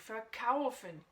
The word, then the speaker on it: verkaufen: Et là, verkaufen, c'est vendre, donc verkaufen, d'accord? Là, je l'ai un peu accentué pour te montrer le fin, le particule, mais c'est bien verkaufen, d'accord? La prononciation, l'accentuation est bien sur le kaufen, verkaufen.